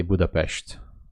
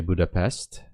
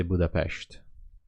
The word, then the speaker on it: Budapest: say it in Hungarian the S you don't pronounce it like s you say it like ash so I say Budapest you don't say Budapest you say Budapest it's a nice city